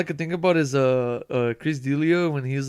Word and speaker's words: D'Elia: All I could think about is Chris D'Elia when he's like saying this joke about the Cubans. Do you remember that shit? Oh, I'm gonna correct you. He's like, Chris D'Elia.